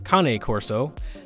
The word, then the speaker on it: Cane Corso: But if it is just a regular dog, looks like it's a Cane Corso, or I believe it's actually pronounced Cane Corso, however it's properly pronounced.